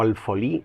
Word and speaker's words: alfolí: viene del musulmán alfoliz o alfolí, con acento en la i, ajá, en el cual